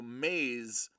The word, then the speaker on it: Maz: my dog's name is spelled Maz, but the vet called her Maze, so Maze, but spelled Maz.